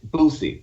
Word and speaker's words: Boosie: You got to say his name right. You saying Boosie? It's Boosie. Just like you would say, it's not like Boosie, Lil Boosie, right? Okay, so it's not a Z.